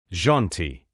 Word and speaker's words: gentil: Alors, il faut le prononcer comme un i, un peu comme dans le mot ici. C'est un son très bref, presque imperceptible. Janty.